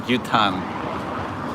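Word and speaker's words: 牛タン: But gyutan, gyu is beef, tan like tongue. That's the Japanese katakana pronunciation of tongue, tan, gyutan.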